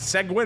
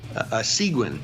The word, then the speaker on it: Seguin: Is it Seguin? Am I pronouncing that correctly? Seguin. Seguin. Okay, yeah.